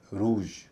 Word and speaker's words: ROUGE: इसे कई लोग रूज कहते हैं, लेकिन इसका सही उच्चारण है रूज, रूज।